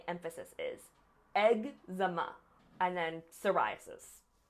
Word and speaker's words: psoriasis: Eczema, and then psoriasis. It's just a tough word to say, but you're going to go up on the rye part.